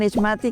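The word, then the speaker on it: Ixmati: En ISmati, casa productora. ISmati se escribe i x m a t i.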